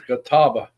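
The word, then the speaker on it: catalpa: Uh, standing stones is a kataba trees what we call it in the south, but it's spelled C A T A L P A.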